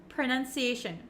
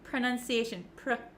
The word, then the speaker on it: pronunciation: what they are so even though we have an O P R O It's actually kind of pronounced like a u like an U uh sound PR PR and it's a very short pronunciation pronunciation okay you